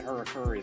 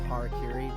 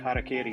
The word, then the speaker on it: harakiri: last week, you're like, that Harakuri there, and I'm like, it's not even remotely how it's pronounced, I'm pretty sure, but I know it's just your Pittsburgh accent slipping in there.